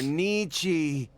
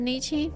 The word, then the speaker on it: Nietzsche: Oh, they're saying it wrong? It's actually Nietzsche.